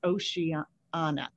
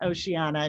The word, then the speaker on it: Oceana: lead campaign organizer for ocean anna i always want to add some syllables to oceana in the commonwealth of massachusetts prior to joining oceana nancy was on the